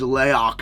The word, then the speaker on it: Laoch: What I love about brands like Leok or Lock, however you'd like to say it. The official pronunciation is Leok is the way you lay it out.